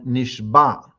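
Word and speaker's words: נשבע: i in from nishba should be emphasized clearly with an ion because nishbah has two meanings depending if it's with a hey or with an ion an iron has a special pronunciation with the back of the throat the letter Zion from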